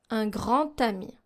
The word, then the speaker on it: un grand ami: In un grand ami, here, since we don't have the D sound, in liaison, we use the T sound. Un grand ami.